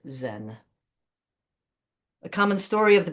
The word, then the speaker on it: Zen: There it mingled with dowoism and confucianism and became a new school of Buddhism pronounced chaen. Later the Japanese pronounced it Zen.